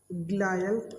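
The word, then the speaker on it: glial: हैं, उनको बोलते हैं ग्लायल सेल, ठीक है। न्यूरॉन तो आपने सुना होगा, बचपन से सुने। एक ग्लियल सेल या ग्लायल सेल, उसको आप जैसे उच्चारण करना चाहें, आपकी मर्जी, आप कर सकते हैं।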